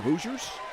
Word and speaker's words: Hoosiers: mentioned at Bloomington against the Indiana Hoosiers rhymes with losers just for the record